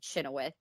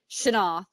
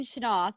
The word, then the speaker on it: Chenoweth: I assume it's some kind of like Welsh or Gaelic, but Shanoff. So Dwayne Shanoff, that's how they pronounced